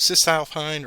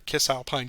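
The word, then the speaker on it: Cisalpine: from they have and depending on your pronunciation some of the professors i've i've known they pronounced it as kiss alpenia or cis alpena meaning on this side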